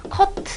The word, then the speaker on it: 커트: 맞는 표현이 겠고 요 커튼 경우에는 사실 두 가지 의미로 쓰입니다 우리 영화에서 뭐 액션 한 다음에 컷 자르자 나요 이때에 영화 용어로 사용해 될 때는 컵 이라고 짧게 발음을 하고요 머리를 자르다 에 해당할 때는 커트 라고 으로 표현을 합니다 그래서 요거 같은 경우엔